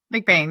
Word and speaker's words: McBain: Am I pronouncing your surname right? McBain. McBain.